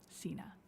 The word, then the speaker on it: Signe: Signe, which, by the way, is how you pronounce her name, Signe.